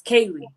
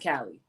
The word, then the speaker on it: Kali: For the record, it's Kaylee, not Kali.